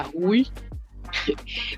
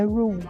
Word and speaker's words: Rue: Eu gosto muito dos personagens principais, eu gosto muito dela, da Rui. Rui, eu não sei como pronunciar esse nome, mas enfim. Eu aprendi assistindo Euphoria, é Rue, como se tivesse Rue, Rue.